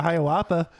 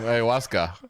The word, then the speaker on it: ayahuasca: quarterback you could do a Hiawatha yeah Ayahuasca you said it wrong what are you I